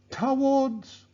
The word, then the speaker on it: towards: Towards or towards. Look, the spelling pronunciation. It's funny, is it? It's O, but we say ta. It's A with the O.